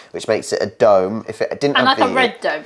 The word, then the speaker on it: Radom: madam you're saying radon it's like random but with no end you're saying radom uh on here it says red Dome so redone oh I'm quite close it's red redone that's what he's saying